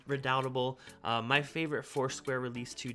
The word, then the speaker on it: Redoubtable: from them including uh redutable as i pronounced it um which is redoubtable my favorite foursquare release